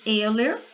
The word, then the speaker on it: Euler: Se lê Euler, né?